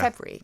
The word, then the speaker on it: February: So this is a process called haplology, where we swallow a syllable, and it's happened for a long time in words like probably. We say probably. Probably do. Or February, we say yeah. February. Yeah. Or secretary, we say secretary. And it's because of ease of pronunciation.